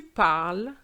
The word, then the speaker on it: parles: So in terms of pronunciation, it goes je parle, tu parles, il or elle parle, which means that it's the same pronunciation, even though there's an S at the tu.